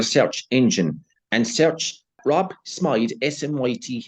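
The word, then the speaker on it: Smyth: uh Rob Smite my H well we will pronounce it Smith here but he pronounced it Smite if you're going to go Google search engine and search Rob Smite smt H 17th November 1993 he wrote a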